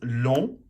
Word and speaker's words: long: So you've got long, which is pronounced long, d'accord? L-O-N-G, you do not pronounce the G unless it's the feminine, and then it's longue, d'accord?